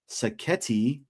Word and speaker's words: Sacchetti: Our guy Mark Sacchetti, that rhymes with spaghetti.